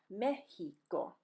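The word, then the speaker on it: México: means exam or test the second is pronounced like the English letter H here we go again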